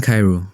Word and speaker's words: Cairo: I'm Cairo, pronounced like the city in Egypt.